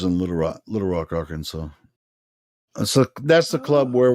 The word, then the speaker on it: Arkansas: blame you though because it has an S on the end but the S is silent yeah it looks like Kansas AR Kansas but it's not it's